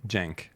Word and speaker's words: Cenk: Jen right is pronounced Jen that's right yeah Jen like it's janky Jen Jen yeah okay